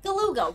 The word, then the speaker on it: Galuga: the meter event guga now we know it's pronounced like Beluga guga rhymes with beluga guga